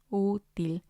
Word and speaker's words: útil: And then we have útil, útil, which means useful. And again, it has 2 syllables. And we see the accent on the U, so we're going to stress that one, útil.